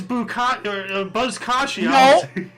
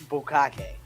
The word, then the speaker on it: Buzkashi: I'm gonna lay down $50 that I guarantee you it's not pronounced Bukake. no, Something's deep Buzzkashi.